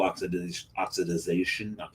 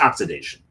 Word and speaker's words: oxidation: You do want a little oxidization. I'm adding a syllable. It's just oxidation.